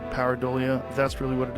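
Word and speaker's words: pareidolia: Paridleia. Paridolia.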